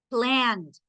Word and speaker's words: planned: Stopped, la primerita, stopped, planned, planned. No suena completo la ed, suena de, stopped, planned, tried, carried, played, enjoyed.